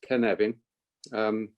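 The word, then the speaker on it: Cynefin: but we can send stuff later so the kinevin framework and that's how you pronounce it it's pronounced ken evin it's literal translation into english is habitat or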